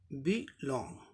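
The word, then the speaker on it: belong: अब नेक्स्ट देखें, बी लॉन्ग, ये बी प्रीफिक्स लेबल है, ठीक इसके बाद लॉन्ग इस पे आएगा स्ट्रेस मार्क।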